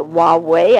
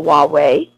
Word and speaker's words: Huawei: with a Chinese company called Huawei I think is how you pronounce it it's spelled h ua w e AI and intelligence agencies in